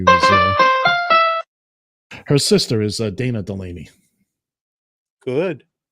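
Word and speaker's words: Delany: Not only is she an actress as well, but the TV show The Animaniacs will often use her name to rhyme with the word zany or insaney. Totally insaney. Dana Delaney.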